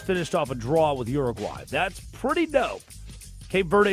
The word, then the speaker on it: Uruguay: Uruguay. Had to say it like an American. Yeah. Can you say it as a non-American? Well, it doesn't start with a "ur" sound. Oh. Uruguay? Uruguay?